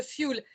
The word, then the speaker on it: fuel: C'est le fuel. Parce qu'on le prononce plus à l'anglaise qu'à la française.